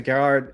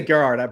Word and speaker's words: Gerhard: I'm going to say Gerhard, but you didn't pronounce it that way. That's perfectly fine. It rolls. It's actually Gerhard. Gerhard, okay. Yeah, it's really hard for people to say, especially English people.